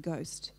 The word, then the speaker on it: ghost: And then at the beginning of a word, we pronounce it as g, like in ghost.